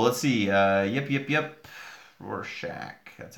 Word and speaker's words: Rorschach: all right cool let's see yep yep yep Rorschach that's how you say it cool yes and